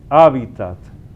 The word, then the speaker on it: hábitat: Hábitat con el acento ahí donde suena la primera a H a hábitat porque la gente lo pronuncia de otras maneras.